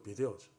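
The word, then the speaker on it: video: 이 비전은 비데오, 우리가 보통 비데오 보는 거 비데오죠. 이게 라틴어인데 원래는 발음을 제대로 하면 비데오입니다. 비데오. V 발음을 라틴어에서는 안 하죠.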